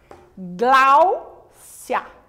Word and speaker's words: Gláucia: Ó, Gláucia. Duas sílabas. A sílaba mais forte é no glau, né?